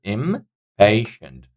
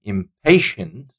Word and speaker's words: impatient: has got three syllables impatient pronunciation impatient so second syllable is having this stress on here impatient number two easiest